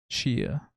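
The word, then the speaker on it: Tchia: 6 games for impact TC h a Chia I'm ass assuming the te is silent best ongoing fortnite fortnite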